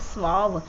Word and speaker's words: suave: तो next word की बात करें तो यहाँ पे नेक्स्ट वर्ड स्वाव, SUAVE, आप इसे प्रोनाउंसिएशन करेंगे स्वाव।